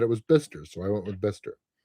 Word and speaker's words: Bicester: Kind of like Bister, England. Beard wanted me to say Bicester. He said it's Bicester, but the owner of the